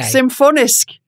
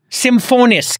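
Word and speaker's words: Symfonisk: that has a more risk how do you pronounce this stuff simple s-y-m-f-o-n-i-s-k symphonist symphonist the symbol is the sh stop it's the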